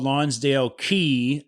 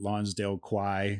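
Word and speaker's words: Lonsdale Quay: i was pronouncing it lonsdale choi okay or something like that but it's it's i think it's pronounced key we literally stayed up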